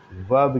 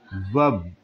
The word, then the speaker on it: verb: Okay, यहाँ पे pronunciation भी याद रखिए, VERB, आर साइलेंट है, इसलिए इसको आप साउंड करेंगे, वर्ब, इस आर को साउंड नहीं करेंगे। So remember it sound, listen it sound again, it is sounded as वर्ब।